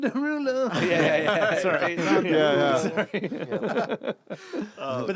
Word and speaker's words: Derulo: It's pronounced Jason Derulo.